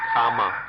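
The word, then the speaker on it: kamma: if we we understand karma kama karma is the sanskrit pronunciation comma the pali pronunciation if we see that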